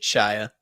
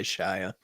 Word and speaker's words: Shia: Shia LaBeouf. Is that how you guys pronounce it? Shia LaBeouf, Shia, maybe? Shia. That's what we say, Shia.